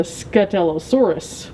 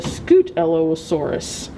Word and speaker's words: Scutellosaurus: to see his name i would say he is a scutellosaurus but it says here he's a scoot ello asaurus see this is why the